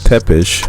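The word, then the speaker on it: Țepeș: Romania on a battlefield where we have Vlad tepesh which hopefully if there's any Romanian people watching you guys appreciated that pronunciation it's on the battlefield doing his thing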